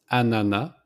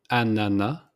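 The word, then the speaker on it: ananas: The pineapple it's anana. So we don't pronounce the s at the end. It's simply anana like banana but without the b at the beginning. So anana.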